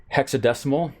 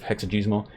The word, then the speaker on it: hexadecimal: We mentioned that you can do hexadecimal, and I said it right this time instead of hexagesimal.